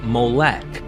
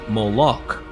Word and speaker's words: Molech: The vowels added by the medieval Jewish scribes known as the Masoretes produced the pronunciation Molech, while the spelling Moloch comes from the Greek Septuagint and Latin Vulgate translations.